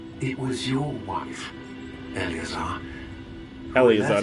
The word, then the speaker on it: Elazar: Elazar is how you pronounce it activities months ago.